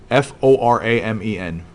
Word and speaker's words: foramen: pronounce it differently oh gosh maybe not maybe it's spelled differently fo RA M en the word is foramen I just kept thinking